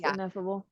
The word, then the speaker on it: Ineffable: I love that like I is that how you say it ineffable yes ineffable and so so you